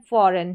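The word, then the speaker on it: foreign: तो ये हो गया बिलीव, और ये है फॉरेन, क्या है, फॉरेन, ए या ए साउंड करके, फॉरेन, ए करके साउंड आ रहा है इसका, फॉरेन, इस तरीके से।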